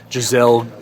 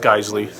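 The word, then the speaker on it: Geissele: geisle triggers excellent trigger people call them Jazelle you know whatever it's actually pronounced geisle um they use extra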